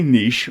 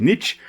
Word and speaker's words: niche: role to flow um if you are American Watcher you most likely will be pronouncing it Niche that the rest of the world we most likely will be pronouncing it Niche and I prefer Niche over Niche and it just makes